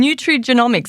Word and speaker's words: nutrigenomics: Nutrigenomics, have I pronounced it right? Nutritional genomics, is that right? Yes, yes. So nutrigenomics, or when I started, back nearly 20 years ago, everyone just called it nutritional genomics.